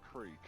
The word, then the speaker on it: creek: How some Americans say crick instead of creek.